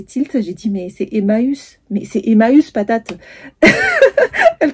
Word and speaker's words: Emmaüs: Emma, Emmaüs, elle commence à me dire ça, j'ai dit non, je vois pas de quoi tu parles.